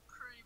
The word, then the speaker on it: Prix: It's pronounced Pre, by the way.